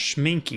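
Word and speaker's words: Schmincke: Works well with schminka. I've heard that pronounced schminky.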